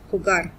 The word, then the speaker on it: jugar: gamble this is the work that you use khugar and it's not a regular verb it is